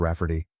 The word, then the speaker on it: Raffarty: She told my mom that spelling it Raffarty will be obvious that it's pronounced Rafferty, but it makes it look more girly.